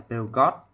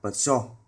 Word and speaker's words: Peugeot: Chúng ta hay đọc cái hãng xe này là Peugeot, nhưng đúng chúng ta nên đọc là Peugeot. Peugeot, như thế mới chuẩn.